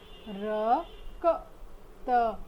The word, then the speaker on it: रक्त: और यहाँ पर हम संयुक्त अक्षर भी देख रहे हैं, इसलिए आइए देखते हैं रक्त शब्द का उच्चारण हम कैसे करते हैं। र क त, रक्त।